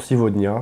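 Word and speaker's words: сегодня: a une voyelle de chaque côté, donc on prononcera le G, V. Et ça, c'est la règle. C'est pareil pour Sivodnia.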